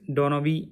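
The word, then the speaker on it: Donoghue: is no problem but the correct pronunciation is donovi versus Stevenson actually 47 where a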